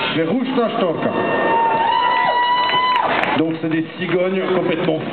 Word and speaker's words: Verrukta Storka: Et Verruchtastorka, ça veut dire cigogne folle. Le V, ça se prononce S. Verruchtastorka.